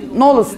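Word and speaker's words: Knolles: Knoles diye okunur. Knoles diye. K'yı demiyoruz. Knov oluyor o.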